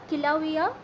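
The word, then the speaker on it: Kīlauea: date way have related तू geography इसे डी किला हर वोल्कानो ठीक है कलर इस तरीके से इसको प्रोनाउंस किया जाता है अब ये पार्ट है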